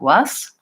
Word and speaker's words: was: leave my voice on and use the Z sound rather than an S. So using these tricks to help overcome the habits. When I see the word was, my mouth wants to do the pronunciation stored in my brain, which might be more like was.